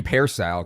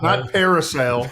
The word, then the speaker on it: Pearsall: impact in It's Pearsall, dude. Pearsall, there we go. Not Parasail. Okay, it's Pearsall.